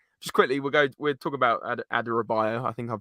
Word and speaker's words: Adarabioyo: Just quickly, we'll talk about Adarabioyo. I think I pronounced it right.